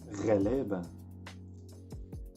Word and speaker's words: غلابة: Say it again, غلابة. Just try to pronounce the letter غين.